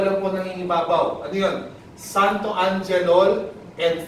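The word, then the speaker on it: xanthoangelol: 5 syllables tayo, okay? Santo. Follow me. Repeat after me. Santo. Anje. Lol.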